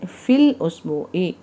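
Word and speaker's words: في الأسبوع: ഫിൽ ഉസ്ബൂഇ, അവിടെ ഫീ എന്ന യാഇന് സുക്കൂനാണ്, പിന്നെ ലാമിനും സുക്കൂനാണ്. ഇൽത്തിഖാഉ സാക്കിനിൻ വന്നതുകൊണ്ട് ഉച്ചാരണത്തിൽ ആ യാഇനെ നമ്മൾ കളഞ്ഞു.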